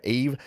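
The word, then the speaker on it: Yves: things off uh eve okay pronounce like eve excellent so now whenever i see y-v-e-s i'm going to go with eve and yeah i thought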